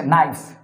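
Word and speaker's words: knife: মনে রাখবেন, কোনো ইংরেজি শব্দের শুরুতে যদি কে এবং এন থাকে, কে এবং এন থাকলে কে এর উচ্চারণটা হয় না, যেমন কে এন আই এফ ই, এটা হচ্ছে নাইফ মানে হচ্ছে ছুরি। এখানে কেনাইফ বলা যায় না, এটাকে বলতে হয় নাইফ মানে ছুরি।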